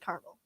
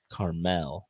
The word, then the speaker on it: Carmel: I live next to a town that's called Carmel, and everyone would make fun of you if you said caramel. Carmel. Carmel. It's like Target. Yes. It's unnecessary. Exactly. But that's just how they pronounce their town name.